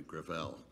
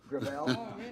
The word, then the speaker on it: Gravel: it within my family grael grael it's a French name thank you uh I